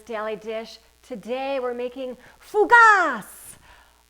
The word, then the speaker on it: fougasse: dish today we're making fugas or rather pronounced in french as fugus or something like that what is fugas fugas